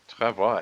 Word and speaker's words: travois: Like, travois ends with an S, but you don't pronounce the S.